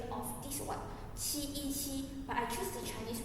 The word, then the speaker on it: 七: The common mistake we have made is we pronounce qi and chi as cheese. There's many words have the pronunciation of this one, qi, but I choose the Chinese word qi means 7.